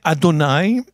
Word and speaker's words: Adonai: ending is plural possession my so you say Adonai and it's spelled also look at the spelling under the